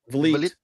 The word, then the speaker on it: Vliet: Vliet. The forehead. Vliet? Is that how you pronounce that?